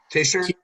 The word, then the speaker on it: Tisher: Tisher? Yeah, it's pronounced like T-I-S-H. Tisher.